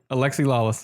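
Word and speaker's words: Alexi Lalas: Alexi Lawless.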